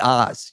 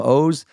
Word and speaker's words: Oz: name is super weird it should be Oz you know blame my parents I love them but it's an Israeli name so it looks it's spelled o z The Mentalist it's actually yeah so it's like Oz The Mentalist but I'm O's and then if you